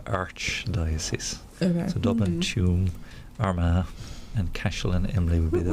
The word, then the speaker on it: Tuam: I don't know how to pronounce it. Tuam? Yes. Tuam?